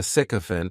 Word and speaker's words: sycophant: The next noun is sycophant and this noun has three syllables and the stress is on that first syllable.